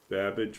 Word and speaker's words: Babbage: Yeah, it's just to make it clear that Babbage rhymes with cabbage.